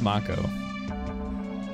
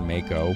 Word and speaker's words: Mako: good question cloud yeah it's Mako apparently that's how it's supposed to be pronounced urine Soldier and didn't know that well I was a kid I thought I said Mako but apparently that was wrong the knowledge of the